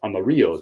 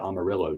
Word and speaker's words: Amarillo: from Asheville North Carolina to Amarillo Texas which should be pronounced Amaro Texas I'm just saying but they call it Amarillo Texas that's what Northwest